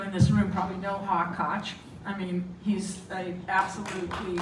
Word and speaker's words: Koch: We have KOCH, and Edward Norton. That's how you pronounce that.